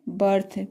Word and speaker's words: berth: अर्थ में भी इसका ई का उच्चारण अ आ रहा है। नेक्स्ट है बर्थ, BERTH, बर्थ।